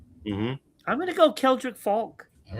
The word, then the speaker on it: Keldrick: Kendrick Falk. You got it. That's another one. That's number 4. Keldrick.